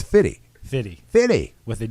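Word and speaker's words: Fifty: 50 Cent or 50 Cent I think it's fitty it's fitty 50 you sound like a proper white man trying to describe what's coming on stage next this is 50 cent no it's fitty fitty with a d oh it's pity not even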